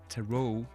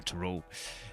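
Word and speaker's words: Tarot: sounds fancy you know toot too toot well the t is silent obviously it's a French word I guess but um too cards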